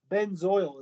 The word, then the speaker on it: benzoyl: Benzoic acid, again, we just replaced the ic acid with ill chloride and it becomes benzoyl is how you pronounce that, benzoyl chloride.